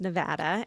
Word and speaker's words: Nevada: Yeah, so it's our state animal here in Nevada, which, yes, it's pronounced Nevada.